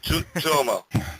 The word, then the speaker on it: Tuomo: Okay, so Tuomo, is that how you pronounce it? Tuomo. Well, close enough. Tuomo.